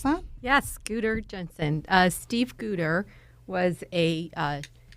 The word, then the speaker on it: Guder Jensen: Is that how I pronounce that? Yes, Guder Jensen.